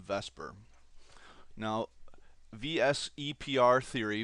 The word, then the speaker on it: VSEPR: electron pair repulsion Theory oftentimes pronounced as an acronym Vesper now vs Theory Vesper theory in chemistry helps